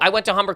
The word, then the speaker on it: Humber: Humber, yeah. Okay. Go ahead. Wait, it rhymes with lumber.